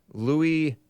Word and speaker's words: Louis: 1824 by blind Frenchman Louis Braille or Luis Braille I don't think they I think the S is silent and they it comes